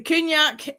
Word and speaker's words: Cù-Sìth: Cù-Sith. Okay. So, the K has an H after it, although it's written with a C. Okay, that makes sense. So, Cù-Sith. Um The Cù-Sith is a death omen spirit.